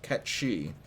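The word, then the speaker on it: Cait Sith: the out of everything so cat she the k that's spelled c-a-i-t space s-i-t-h which once again c-a-i-t-s-i-t-h pronounced cat she is the king of all cats um so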